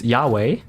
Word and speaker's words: Yahweh: us Germans are mad we have found a way to pronounce it which is Yahweh and it has become the proper pronunciation uh for people who